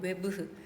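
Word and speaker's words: œuvre: 자, 뭐로의 발판을 제공해 줄 수 있냐면이 예술가에 이거 발음을 이게 프랑스라고 하더라고. 검색해 봤는데 어떻게 했는지 뭐 외브라고 발음을 한대. 외브.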